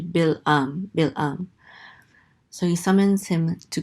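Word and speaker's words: Balaam: Moab summons the prophet balam I I forget I I think the Hebrew pronunciation of this word is actually bill um so he summons him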